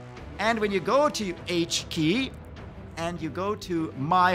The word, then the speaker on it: h.ki: K it's pronounced H key that's not a coincidence to us choosing H